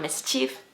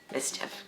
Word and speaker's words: mischief: Remember, if instead of if, so not mischief, mischief.